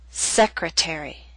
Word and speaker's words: secretary: Appetizer and secretary are longer words. They have both primary and secondary stress. Primary stress is at the beginning of these words, but the T still falls on a stressed syllable. It's secondary stress, a little weaker but still stressed. That's why it's still a true T.